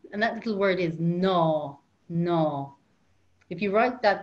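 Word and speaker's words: ná: don't do it and that little word is no no if you write that down it's n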